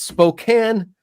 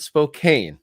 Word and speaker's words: Spokane: It's Spokane, not Spokane.